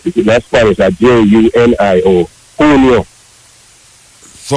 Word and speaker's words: Julio: But the J, when you see J in Spanish, I pronounce like a H in English.